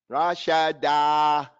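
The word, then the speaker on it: رَشَدًا: Rashadan. Rashada. Don't say Rashadu. Rashada.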